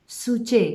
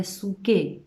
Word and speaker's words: psuche: और इसी को ही न्यू टेस्टामेंट में जो सोल है उसको ग्रीक जो वर्ड है उसमें बोला जाता है सूचे या सूके, जैसे भी आप प्रोनाउंस करना चाहोगे, PSUCHE, जिसका मतलब होता है प्राण और प्राण का जीवन, ठीक है।